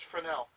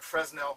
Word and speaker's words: Fresnel: I know it looks like Fresnel, but it's pronounced Fresnel. The other system we have, and this is the picture of an F-18.